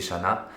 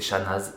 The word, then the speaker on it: Chanaz: si vous connaissez shana je pensais ça se prononcer chanaz et j'ai appris que en fait aucun village haute savoie en savoie et dans tous les entoure tous ceux qui finissent par x y ou z ça ne se prononcent pas y a que la montagne du semnoz pour ce câble dans le coin qui on prononce le z mais normalement devrait pas